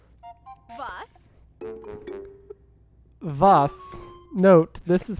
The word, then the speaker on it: was: Vos. Vos. Note, this is pronounced vos and means what in German.